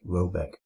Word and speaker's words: Roback: The manor house or herrgård in question is to be called Roback, pronounced something like Robeck, though that is not its name.